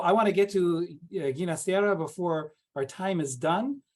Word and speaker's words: Ginastera: And he himself preferred the Italian pronunciation, which is Ginastera.